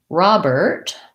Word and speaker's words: Robert: stress and then lastly robert we have an first syllable stress and it sounds like ah and then we have the er plus a t robert so all of those